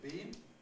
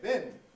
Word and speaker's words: being: it being a thing being has two possible pronunciations some people say bean some say bin some people have a